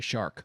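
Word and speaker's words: Chark: oh by the way apparently if you look at his pronunciation is supposed to be shark like the animal so yeah like whether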